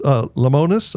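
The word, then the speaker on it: Lemonis: Well, and in case people aren't getting the message, there's a statement out on social media now from Marcus Lamonus. I hope I'm pronouncing his name correctly.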